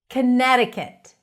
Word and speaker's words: Connecticut: Connecticut. Connecticut. So it's not Connecticut, not Connecticut.